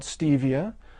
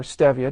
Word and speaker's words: stevia: natural alternative sweetener called stevia or stevia depending on how you pronounce it that is derived from